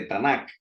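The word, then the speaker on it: Tanakh: con el nombre de tanak con k al final que se pronuncia muchas veces como si fuese una jota esa última acá y representa cada consonante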